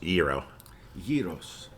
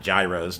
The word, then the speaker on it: gyros: uh yes going restaurant tell people how to pronounce yo yos here you go not Gyros not Jos thank you thank you